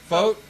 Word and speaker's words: Focht: Focht? We're joined by Jodi Focht of Venango?